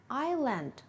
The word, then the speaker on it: island: For a single word like island, students simply need to know that they shouldn't pronounce the silent letter, but they should include it in the spelling when they write it.